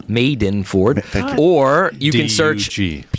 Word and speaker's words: Madenford: you search my name maidenford m-a-d-e-n-f-o-r-d pronounce made in Ford or you can search